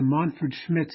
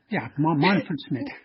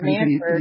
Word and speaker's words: Manfred Schmidt: It's called the Montford Schmidt series, and it is basically... That's how you pronounce it. Yeah, Montford Schmidt. I was thinking Manford.